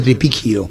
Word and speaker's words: Tripicchio: Dice que se pronuncia, yo le dije eso a don José, se le pronuncia tripicchio. Tripicchio. Porque se escribe tripicchio. Italiana.